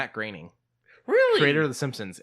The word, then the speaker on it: Groening: And until most recent, the last couple of years, when he did things like that, I was still calling him Groening because I didn't know it was Groening.